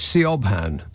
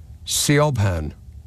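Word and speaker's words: Siobhan: wait for storm well it looks to me like se obhan but I know that it isn't it's one of those Irish names where you ignore almost all of the letters and replace them with ones that aren't there Coban s i o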